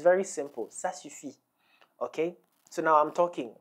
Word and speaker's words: Ça suffit: you you can all eat you can use sass you fee okay it's very simple sass you see okay so now I'm talking talking a lot